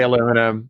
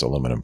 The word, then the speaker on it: aluminum: Don't Canadians say aluminum? We don't insert random syllables. Good, because it'll make it much easier to absorb you into the 51st state if you just pronounce aluminum properly.